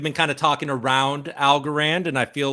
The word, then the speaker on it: Algorand: at this we've been kind of talking around al goran and i feel like we should probably talk about algorand al goran even maybe even say it right